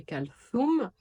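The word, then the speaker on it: كلثوم: Parce que le tha de Kawthar et Kalthum, c'est le TH en anglais de three.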